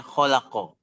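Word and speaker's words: خلق: Ada sebuah kata yang terdiri dari huruf-huruf kha, lam, dan qof. Ini dibaca sebagai khalaqo.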